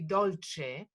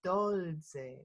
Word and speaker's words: dolze: normally that would be dolce and here it's dolze with a z so we pronounce it like a like a d in front of it fruit with um sweet